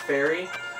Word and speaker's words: Feri: right now i' practice something called fairy tradition it's spelled f e r i it works mostly with